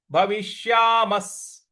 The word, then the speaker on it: भविष्यामः: न चैव न भविष्यामस्, भविष्यामस्, भवि, भ व के ऊपर छोटी की मात्रा और षटकोण वाला श है। तो भविष्यामस्, म के बाद जो विसर्ग है उसका उच्चारण हमें स ले आना है।